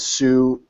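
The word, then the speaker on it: σύ: Mounts recommends, and I do too, recommend remembering it as Sue, oo. So, because you know Sue is the second person singular, you, Yeah. and it rhymes with oo, which starts the plural pronouns who, you, who, you, who.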